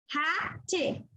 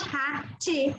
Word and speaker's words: hate: So if there is no effect of magic E, how will you pronounce that word? Ha-te. But it's not ha-te, it's hate.